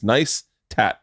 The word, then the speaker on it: Neistat: it's van neistat it's i love that you guys explained how to say your last name it's nice tat like if you even